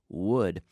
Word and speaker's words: wood: it and without that wood okay be careful with the pronunciation here of this word Madera wood it's just like the modal verb I would do it if I could would would but my data would it